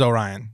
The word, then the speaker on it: Orion: a different character so maybe you want to pronounce it a little different or whatever but it is Orion yeah so that one